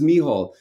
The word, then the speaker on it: Mícheál: speak irish it's okay even as an irish person i introduce myself and i say hey my name is mihal and people go oh